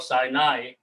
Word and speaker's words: Sinai: This, in English it is called Sinai, and it is Sai and Nai.